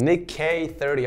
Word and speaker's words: NickEh30: making content for around Nick k30 okay that's how you say it okay I was always